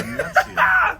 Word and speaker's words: Venezia: But Venezia, did I pronounce it? Yeah. Venezia, the Venezia.